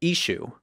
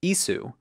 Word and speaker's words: Eshu: group called The mandayans in mandelic Jesus is called Ishu and the ancient Christian writer Ephraim the Syrian mentions as some syriac-speaking Christians were calling him ISU both of which lack and iron some have proposed that